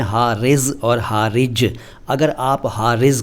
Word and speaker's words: हारिज: दो क्या तीन अल्फाज हैं, ये हैं हारिज और हारिज। अगर आप हारिज को हारिज बोलेंगे तो अर्थ बदलेगा, अगर आप हारिज को हारिज बोलेंगे तो अर्थ बदलेगा। दोनों में नुक्ते का अंतर है और नुक्ते की वजह से उच्चारण का अंतर है।